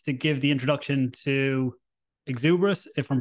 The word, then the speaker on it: Xerberus: Right, it's like the hellish dog with three heads, just with an X. It's Xerberus. And yeah, guys, thank you